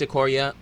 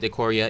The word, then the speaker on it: Ikoria: welcome to acorrea well I'm very sure it's a Korea i rewatch the mechanic videos Matt Tabak pronounces it de coria if anyone says its